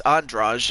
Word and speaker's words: Andrade: It's spelled Andrade, but it's Andrade.